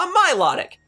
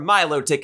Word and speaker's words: Milotic: trying to catch a Milotic or Milo tick as I actually pronounce it for you see ever